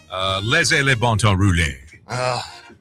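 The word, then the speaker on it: Laissez les bons temps rouler: Laissez les bon temps rouler.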